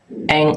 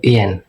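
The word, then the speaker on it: 円: Nah, eng atau yen? Eng ya pakainya. Kalau di Jepang itu eng. Kalau Indonesia ngomongnya yen.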